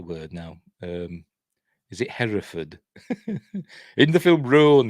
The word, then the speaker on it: Hereford: oh what's the word now um is it Hereford in the film Rule and then because it's a Hereford what color is the the shed at uh Hereford he says Haverford anyway let me mispronounces something in this as